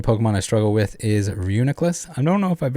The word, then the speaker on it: Reuniclus: you pronounce it uh for 10 years i thought it was ridiculous okay when i saw